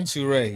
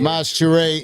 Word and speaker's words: Maj Toure: How do I say it correctly? Maj Toure? Toure, yeah. Maj Toure in the building.